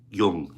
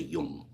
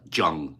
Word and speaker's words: Jung: correct no junk that young you say young you don't say uh Jung no young that's when like